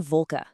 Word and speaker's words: Wolke: The letter W is Way, and it makes a V sound like in Wolke.